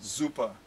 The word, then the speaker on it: super: super super duper or as the germans say super with a z it sounds like a it's not spelled with a z but it it has that z sound to it zuppa or you could say